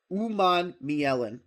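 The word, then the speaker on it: Umanmielen: Uman, like Oman.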